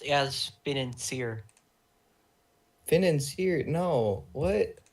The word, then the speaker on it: financier: It's like French.